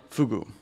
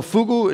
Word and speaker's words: fugu: and by Microsoft so fugu if you don't know it's a Japanese word it's apparently pronounced of like googoo it's a pufferfish it's